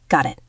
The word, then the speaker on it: got it: In American English, the T in got connects to the I in it. It sounds like got it. Got it.